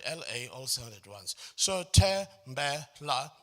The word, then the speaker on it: Tembela: So Tembela, my name is made up of 3 syllables. But the 3 syllables of my name don't have a similar stress pattern.